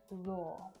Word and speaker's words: roar: Let's start with raw and roar. Now, both of these words have the /ɔ:/ vowel sound, the same sound that you'll hear in words like door and saw.